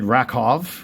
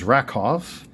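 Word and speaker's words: Rakow: Ed Rakov, which is pronounced properly since a W is pronounced in a V in European culture. So, it is Rakov.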